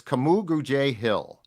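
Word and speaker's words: Kamu Grugier-Hill: Camu Grugier-Hill. So it's Camu Grugier-Hill. It's K-A-A. It's phonetically capital K-A-H, and then Mu, small M-O-O, and then it's Gru, G-R-E-W uppercase, and then J, J-A-Y small. Camu Grugier-Hill, which is as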